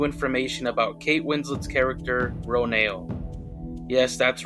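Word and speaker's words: Ronal: about kate winslet's character roneo yes that's right they revealed the name is pronounced row nail so let's get into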